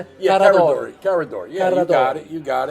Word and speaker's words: Carradori: Am I pronouncing it? Yeah, Carradori.